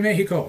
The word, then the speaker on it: Mexico: paper off a toe in Mexico he said notice I pronounced the X as an H Hunter looked out the